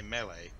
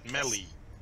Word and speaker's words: melee: just mocking your pronunciation they want you to say may leave no we want you to say melee I would say stop so you said Mellie no the way you